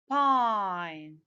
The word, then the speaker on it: pine: pen short i pin i add the silent e to get the long sound for this letter what is the long sound for this letter i what does the word become pine let's continue rap sorry